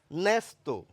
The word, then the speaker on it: ন্যস্ত: ন্যস্ত অ্যা ধ্বনি আসছেই, কিন্তু তাহলে এই যে অ লাগিয়ে বললাম তাহলে বলা উচিত অব্যয়, তা কিন্তু আমরা বলি না।